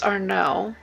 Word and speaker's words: Arnaud: And also, the man's name is Arnaud. Silent D.